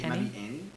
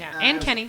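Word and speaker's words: Anne: uh an Kenny and Kenny all right anen Annie a n n e an an sorry an Kenny I get nervous it's good you want you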